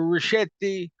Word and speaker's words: Ruscitti: Well, let me start by saying my name's Ruscitti, or Ruscitti. That's the Italian pronunciation. It actually means small roses in Italian.